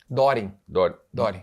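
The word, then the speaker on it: Döring: Doring. Dering. Dering, se pronuncia Dering. Se pronuncia Dering. Nós alemães pronunciamos Dering.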